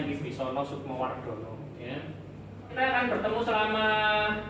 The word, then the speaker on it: Wibisono Sukmo Wardhono: Oke, itu bacanya Wibisono Sukmowardono ya.